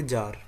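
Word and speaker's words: Tsar: इनको जार या फिर जार भी कह सकते हैं टी साइलेंट होता है इसमें इसके बाद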